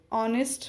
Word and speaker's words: honest: When we see these spellings, our honest men, the spellings are starting with H, but the pronunciation starts with O. Honest, our, right? H is silent. The sound of H doesn't come.